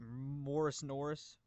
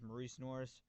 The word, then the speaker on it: Morice Norris: has always pronounced it Morris Norris. His name is Maurice Norris.